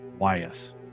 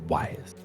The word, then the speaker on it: Ewyas: We found out that's how you pronounce this right here, Ewyas. Go figure. Ewyas.